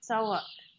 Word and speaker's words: Tsawalk: And his book, the first book is Tsawak. It's spelled Tsawalk.